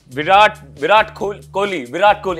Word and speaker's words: Virat Kohli: talented, most loved individuals from India, and also Virat Kohli.